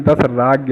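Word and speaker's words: दाशराज्ञ: यहां पर लिखा है लेकिन द राज्ञ है इसका मेन जो उच्चारण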